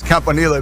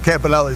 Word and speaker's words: Campanile: In Italian, it's Campanile, but but everybody says Campanelli, so, I just roll with the punches, whatever.